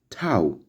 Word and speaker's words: tau: And the next is tau, which sounds like T in talk.